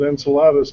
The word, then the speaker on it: Enceladus: and jumped on it Enceladus most people would pronounce it Enceladus but hey C in Latin is hard or my Latin